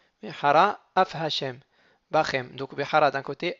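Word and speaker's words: מהרה אף: Lorsque je veux dire Vehara, Af Hashem, donc il faut bien faire attention de ne pas dire Veharaf. Il ne faut pas avaler le Aleph. Et chaque fois qu'il y a un mot qui va être suivi d'un mot avec un aleph, il faut faire attention de bien articuler le aleph.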